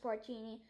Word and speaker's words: Porcini: hot dog they finished every last crumb delicious pronounced porcini and that's how you made a cake cake